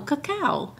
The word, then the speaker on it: cacao: Co cuckoo word how do you say it caca tree caca cooco no caca anyway um so what I told Phil was